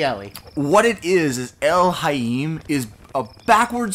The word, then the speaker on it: Elhaym: a very good point the way you pronounce it is El is elim elim elim it you're not supposed to be able to pronounce it because it's not an actual word what it is and